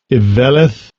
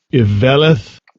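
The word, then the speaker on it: אִוֶּלֶת: So here's that pronunciation for it. Strong's H 200. Iveleth. Iveleth.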